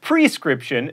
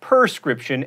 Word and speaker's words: prescription: friend is patty mayonnaise it's prescription not perscription and realtor is only